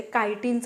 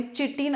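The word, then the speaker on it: chitin: external स्केलेटेन जे असतं ते कायटीनच बनलेलं असतं पण त्याच इंग्लिश मधलं spelling C एच आय टी आय एन असतं असत जे की आयोगाने चिटन असं दिलेलं सो मराठी मिडियम वाली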